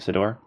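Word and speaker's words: Ciddor: And this was by Philip E. Sidor, I think is actually how you say it, Sidor.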